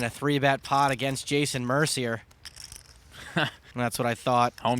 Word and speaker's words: Mercier: It's pronounced Mercier, you punk.